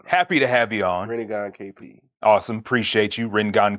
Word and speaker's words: Rinnegan: You It's can read Rinnegan KP. It's not like Ringat, is it? It's not the same. No, Either way, no. happy to have you on. Rinnegan KP.